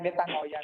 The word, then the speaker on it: metanoia: Ang pagsisisi ng kasalanan, ang Greek word ng repent ay metanoia. Metanoia ang pronunciation niya.